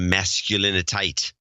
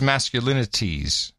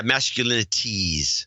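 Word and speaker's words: masculinités: Well, I think I would like the definition of masculinitite. That's what we're trying to deal with here. Is that how you say it? I thought it was masculinities. Yeah, masculinities. Yeah, did you find it?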